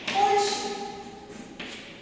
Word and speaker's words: কলসি: কেমন সেটা, যেমন ধরো একটা শব্দ দেখো কলসি, এটা আমরা কিভাবে উচ্চারণ করি না হসন্তযোগী, শব্দের মধ্যে যে ল ছিল এটা কলসি, কিন্তু সেটা আমরা কিভাবে উচ্চারণ করি, কিভাবে না হসন্তযোগী উচ্চারণ করি, লয়ের পরে যে অ ছিল সেই অটা কিন্তু লুপ্তভাবে আমরা উচ্চারণ করি, ক লয় হসন্ত দন্তস্বয় হস্যই, এইভাবে আমরা উচ্চারণ করি কলসি।